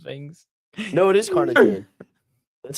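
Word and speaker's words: carnitine: I'm bad at saying things no it is cartine that's how you say it cartine did I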